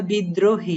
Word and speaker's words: বিদ্রোহী: এবার আমরা বিদ্রোহী, এটার উচ্চারণ আমাদের গ্রামারে আছে।